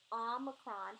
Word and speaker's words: omicron: Omicron has a sound of a short O. Ah, kind of like you're saying father, like the A in father, omicron.